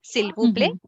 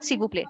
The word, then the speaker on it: s'il vous plaît: But yes, if I pronounce it very slowly, s'il vous plaît. But yeah, if Okay. I pronounce it like a proficient or a native speaker, s'il vous plaît, s'il vous plaît.